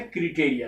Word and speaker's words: criterion: Original word है क्रिटेरिया, CRITERION, एन is silent, और उसका प्लूरल फॉर्म है CRITERIA।